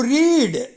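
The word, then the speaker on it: read: ஒன் அண்ட் டூ கேள்வியில எப்படி கேட்பது டிட் யூ ரீட் the story did யூ ரீட் நீ படித்தாயா த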